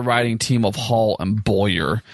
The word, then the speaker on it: Beaulieu: So the way to remember it is that you bowl your ball down the alley. So it's Beaulieu. Beaulieu. Okay. Beaulieu. Y'all are the writing team of Hall and Beaulieu.